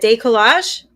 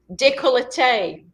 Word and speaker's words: décolleté: Décollage? Décolleté. Décolleté.